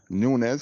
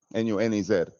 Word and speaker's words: Nunez: It's pronounced Nunez. And I'm like, miss, that's how my father told me to say it, Nunez. No, you tell him it's Nunez. The Spanish way of saying it.